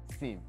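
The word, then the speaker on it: SIEM: secure First Tool is security information and event management tool pronounced at Sim what do they do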